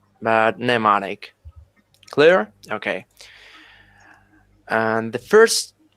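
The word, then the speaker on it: mnemonic: actually this word pneumonic the first m is not pronounced just like that neonic not memonic but neonic clear okay and the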